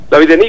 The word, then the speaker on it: Lavillenie: Oye, José Ramón, antes de entrar con el fútbol y cuestiones domésticas, quería preguntarte sobre este francés, Renaud Lavillenie, ¿cómo se dice? Lavillenie, como dices tú, efectivamente, bueno.